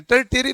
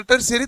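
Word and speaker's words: tertiary: टर्शरी तो ये English का नाम है, ये भी टर्शरी इंग्लिश का ही है, इसकी प्रोनाउंसिएशन है टर्टियरी नहीं होता, टर्शरी तो होता ही है।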